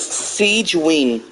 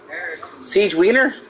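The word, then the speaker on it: Sigewinne: Okay, so to pronounce this girl's name, her name is Siegeween. Siegeween. Siegeweener?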